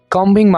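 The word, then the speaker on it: combing: hair क्या बोलना है कांबिंग मी हेयर यहां पर हमने बी को साइलेंट रखना है आपने कम नहीं बोलना ठीक है आई मेकिंग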